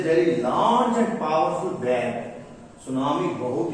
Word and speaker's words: tsunami: इधर आइए, what is तो सुनामी, टी साइलेंट रहेगा इसलिए बोलेंगे सुनामी।